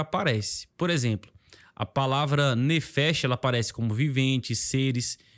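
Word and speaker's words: נפש: para o hebreu aqui aparece a palavra a pronúncia dela é nefes e ela significa alma vida criatura pessoa e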